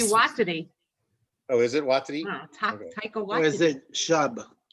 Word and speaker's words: Waititi: Taika Waititi. Watiti? Watch the extras, Frank. He explains how to pronounce his name. It's actually and Watiti. Oh, is it Waititi?